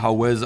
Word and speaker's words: Hawez: l a h and then howz is spelled h a w e z or Z if you're an American um thank you for